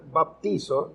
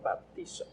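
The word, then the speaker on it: βαπτίζω: palabra es griega Sí y la palabra se pronuncia baptizo baptizo no Y la palabra el significado de la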